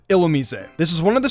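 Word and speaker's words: Illumise: of those common ones Allu me see instead of illa me say this is one of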